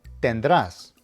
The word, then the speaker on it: tendrás: It means that you will pronounce the main verb with the emphasis on the last syllable, as indicated by the accent. Let me give you a couple of examples. No tendrás, which means you will not have.